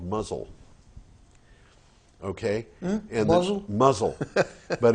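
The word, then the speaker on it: Mousehole: but but the town the town is called muzzle okay and doesn't muzzle but it is spelled MOU s ii h 0 l e all the muzzle and the reason it's called mouse hole in the in the way that nor most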